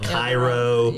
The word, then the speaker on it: Cairo: It's just like Cairo, Illinois. They call it Cairo or New Madrid. Down south it's called New Madrid.